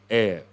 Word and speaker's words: heir: It is a silent or mute H, heir.